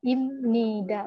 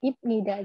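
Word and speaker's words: 입니다: Nah, ini sebenarnya emang benar bacanya ibnida, tapi karena hukum bacimnya biep ketemu nian itu jadi miem, jadi bacanya imnida, bukan ibnida.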